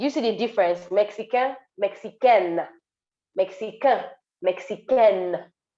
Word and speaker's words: mexicaine: Tona est mexicaine. Do you see the difference? Mexicain, Mexicaine, Mexicain, Mexicaine. Mexicain is for masculine, Mexicaine is for feminine.